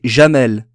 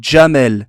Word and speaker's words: Djamel: gens qui s'appellent jamel il faut pas les appeler janelle c'est jamel c'est pas qui est un des avants mais c'est que ça que le que le gie arabes se prononcent djamel quand je dit jah